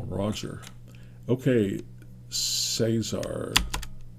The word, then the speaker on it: Cesar: call him Roger okay Cesar they call it call him Cesar not Caesar uh pops out with